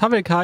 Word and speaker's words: Hawelka: Dem Kaffeehaus Havelka in Wien.